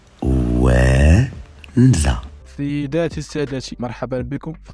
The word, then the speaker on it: Ouenza: ومع صاحبنا عنده مشكيف اي كي اي تاعو، وقال البيبليك ينطق خطا خليه هو يقولها. او او ماشي اي او او او او ان زد ا وانزا.